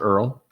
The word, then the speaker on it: ERTL: and car set nice it's earl oh he has e-r-t-l yeah it's pronounced earl it is yeah there's a t in it what is up with